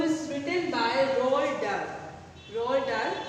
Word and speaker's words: Roald Dahl: Roald Dahl, pronunciation is like that, okay?